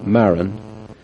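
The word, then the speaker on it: Marren: The machine's main disadvantage is its price, £115 inclusive of VAT and postage, from Jane Maron or Maria Phillips at Clark and Smith Industries, Melbourne House, Melbourne Road, Wallington, Surrey, SM6 8SD.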